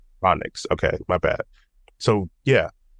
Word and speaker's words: Narodniks: Hopefully, I'm not pronouncing it. Narodniks. Narodniks.